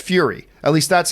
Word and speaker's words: Furya: for Riddick 4, and if you're wondering how to pronounce that, it's just Fury. It's pronounced Fury.